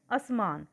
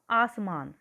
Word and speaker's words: आसमान: कई बार हम बोलते समय कई शब्दों का गलत उच्चारण करते हैं, जैसे असमान, सही शब्द है आसमान।